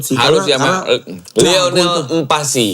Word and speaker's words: Mpasi: Harus ya, karena Lionel Mpasi. Empasi namanya. Itu emang adanya Lionel Messi. Empasi. Lionel Mpasi. Wah, Bacanya nggak gitu kan bacaan.